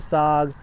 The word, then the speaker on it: saag: There's tons of different types of sog, and you can look up tons of recipes, but it is a fantastic way to use your greens.